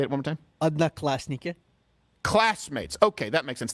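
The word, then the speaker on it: Одноклассники: Odnoklasniki. It is the most inefficient language that's ever existed. Odnoklasniki.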